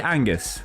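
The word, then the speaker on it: B'Angus: we've already covered, and lastly Angus, with a silent B.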